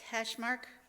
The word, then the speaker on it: Kachmaryk: And right now, I'd just like to take this opportunity to introduce Suzette Kachmaryk.